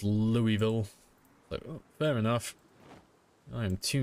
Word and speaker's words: Louisville: it properly see I used to call it Lewisville that's that's how I thought it was pronounced apparently it's pronounced Louisville fair enough I am too European for that